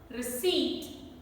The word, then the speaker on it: receipt: letter in this word receipt p is silent and plummer so